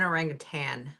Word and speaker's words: orangutan: as say an orangutan an orangutan pronunciation isn't that what I just said no orangutan Rutan there is no g whatever but to say